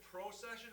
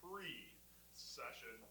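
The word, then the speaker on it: precession: confuse you is uh is it gyroscopic procession? Is it a certain order? Well kind of. But what you really need to know is that the force is applied before it is spelled. So it's pre session. It's not just an order. It's the order of preession. So anyway, all that to say we call it gyroscopic preession.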